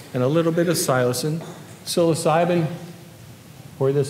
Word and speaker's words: psilocin: And psilocin is the actual active species, or as Albert Hoffman would have pronounced it, psilocin.